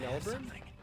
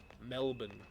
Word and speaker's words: Melbourne: Is the engagement party in Melbourne? Or sorry, Melbourne? I have to say it like they always yell at me for saying it wrong. Melbourne.